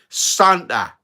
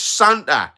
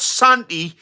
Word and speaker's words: Santa: S A N T A Santa, right? It's Santa. It's not Santi. It's Santa.